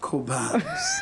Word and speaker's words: Cobhams: My real name is Cobhams. Cobhams It's pronounced Cobhams because most people have just